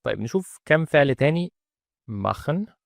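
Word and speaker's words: machen: مخن، ده اول ما نشوف بعدها تسيها فده يبقى معناها ان احنا ننطق تسيها خ، يبقى مخن او كخن او بغاوخن.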